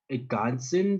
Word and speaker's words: ergänzen: So, remember, with umlaut, we're going to say ergänzen, so in this case, A of English. We're going to pronounce this as A. Ergänzen Sie. Z becomes C. So when you're pronouncing this, always look out for the umlauts and the Z. Z is not the same as the one we have in English. S will be pronounced as the Z in English.